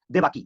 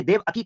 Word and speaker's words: देवकी: उसकी एक बीवी थी, जिस बीवी का नाम था देवकी या देवकी उसे कह सकते हैं। ये देवकी कह सकते हैं, ये देवाकी कह सकते हैं, ऐसी तरह प्रोनाउंसिएशन है, देवकी या देवकी।